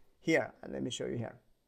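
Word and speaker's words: 河: This is a regular river, pronounced as He.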